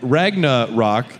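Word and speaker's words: Ragnarock: a VR game and ragna rock is kind of How It's pronounced like rock but it's similar to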